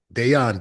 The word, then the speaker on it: Deon: It's not your day off. It's your day on. Deon. Deon. I keep saying Dejon. I don't know why. Maybe it's like the mustard. I think maybe I just I know. I know. Deon. Yes. It's the J is pronounced like a Y.